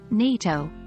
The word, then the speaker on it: NATO: different syllable for instance the acronym NATO for the North Atlantic Treaty Organization has the stress on the first syllable rather than the second syllable of Atlantic in the full phrase remember it's essential to